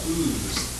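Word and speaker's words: Ouse: for sitting by the river ooze that's spelled o-u-s-e the river that runs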